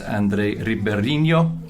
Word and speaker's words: André Ribeirinho: CEO at Adegga, it's André Ribeirinho. Did I pronounce that right?